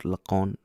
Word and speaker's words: Lacan: Lacan, how do you pronounce it? Lacan.